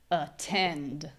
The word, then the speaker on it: attend: So in this case, when we have a letter A coming at the beginning and that is in an unstressed position, we still pronounce a sound, but that sound is schwa. So it's just like this little Watch my lips. I'm not doing anything crazy with the lips. It's just allow, attend.